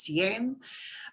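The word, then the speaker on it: cien: it's that shorty form of 100 cncin but pronounced sien but siento siento the long form of 100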